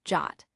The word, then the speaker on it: JWT: JSON web tokens JWTS the format of trust a JS web token JWT pronounced jot is a compact URLs